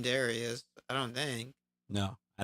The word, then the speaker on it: Darius: Maybe it's how I talk, but I don't pronounce the D. It's always some weird name that don't sound with a D when I say Darius.